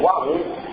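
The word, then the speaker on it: AUM: É o A1, que é a palavra homem. O A1 se escreve A-U-M, né?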